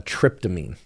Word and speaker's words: tryptamine: Psilocybin is what's called a tryptamine. That refers to its chemical composition, not to the so-called psychedelic trip. In fact, it's spelled differently. Tryptamine is T-R-Y-P, trip, T-R-I-P, of course.